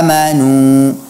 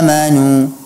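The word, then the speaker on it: آمنوا: dengan Fatah yang benar seharusnya dibaca ya ayyuhalladzina amanu amanu tidak pula kita terlalu berlebihan membuka rahang kita amanu tidak ya ayyuhalladzina amanu bukan eh menu ah bukan amanu tapi aman ya Hai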